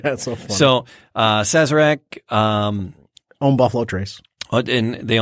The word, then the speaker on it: Sazerac: Well, it comes from the good folks at Suragic. Yeah. I think that's how you pronounce it. Sure. And they own Buffalo Trace. Okay. Right, which is one of your favorites out there. Yep. Sazerac, thank you.